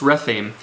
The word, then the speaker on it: Rephaim: Then he goes out to fight the Philistines in the valley of Rephaim, I believe it is. Is that how you say it, Rephaim? Yes, Rephaim.